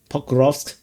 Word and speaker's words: Pokrovsk: A lot of people very angry with me not pronouncing the SK. Pokrovsk.